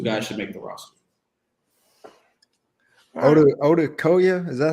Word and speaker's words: Odukoya: Odukoya, is that how you say his name? Odukoya? Thomas Odukoya. Odukoya.